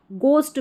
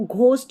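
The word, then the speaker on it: ghost: गोस्ट में इसको घोस्ट नहीं बोलते, गोस्ट बोलते हैं ना।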